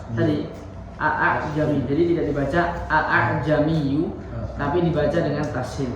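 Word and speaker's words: أعجمي: Cara bacanya adalah tadi membaca huruf hamzah yang kedua dengan ringan. Kan hasilnya gini. Tulisannya seperti itu. A'jamiyyu. Nah, di sini nggak dibaca tapi dibaca yang kedua itu dengan ringan. Yang pertama jelas a'jami, tapi nggak boleh dipanjangkan. Tidak boleh terlalu dipanjangkan karena di sini ada. Nggak boleh a'jamiyyu, tapi hanya sekedar diringankan saja. A'jami, gitu ya.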